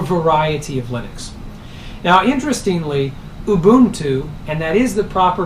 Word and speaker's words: Ubuntu: particular flavor or variety of Linux now interestingly Lubuntu and that is the proper pronunciation it's not a bun - it's not